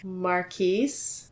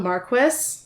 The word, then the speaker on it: Marquis: I have to tell you the canonical pronunciation is Marquis. Marquis. I think it's okay if we say it a different way, depending on how you feel about it.